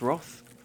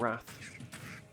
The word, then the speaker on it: wrath: Yeah, it's pronounced Roth in the UK anyway. Not Wrath.